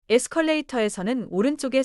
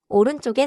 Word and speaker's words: 오른쪽: 오른쪽 has a tight double sound in쪽. Do not stretch too much.